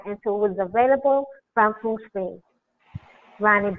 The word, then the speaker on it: Feng Shui: And Judy, we got to make sure we get the pronunciation correct. Feng Shui. It's not Feng Shui.